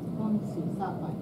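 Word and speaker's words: 恭喜发财: gongxifacai.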